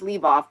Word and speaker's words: Liboff: next we have liboff i'm sorry if i pronounced your last name incorrectly um allowing you to talk now can you hear me yes yeah it's leave off but um great so